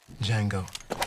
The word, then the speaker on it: Django: Django. D-J-A-N-G-O. The D is silent.